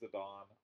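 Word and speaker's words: Zidane: want to pronounce it I know Zinedine zadon is zadon I pronounce zadane zadane because that's from earlier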